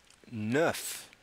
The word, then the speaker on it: neuf: It's spelled N-E-U-F. It also breaks the rule of the no need to pronounce consonants at the end of words.